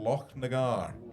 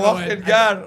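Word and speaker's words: Lochnagar: Royal Loch Nagar. Is that how it's pronounced? What were you calling it? Right. Royal locking guard.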